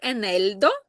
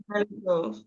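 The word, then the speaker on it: eneldo: Тільки у нас м'якенька. Так. Енельдо. Енельдо.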